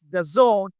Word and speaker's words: DAZN: D A ZN simply pronounced the zone is a global sports